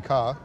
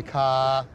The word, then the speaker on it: car: There are two different pronunciations there, but they're both non-rhotic. Go on then. So you can say ka, which is, or you can say ka.